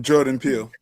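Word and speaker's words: Jordan Peele: Jordan Pill.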